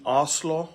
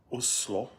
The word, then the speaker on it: Oslo: I'm in Oslo or the way the locals say Oslo.